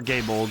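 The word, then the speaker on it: Gáe Bolg: Or Gaybolg, depending on how you pronounce it. I don't think either pronunciation's wrong.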